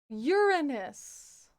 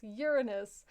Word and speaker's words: Uranus: Uranus is how we pronounce this. Uranus.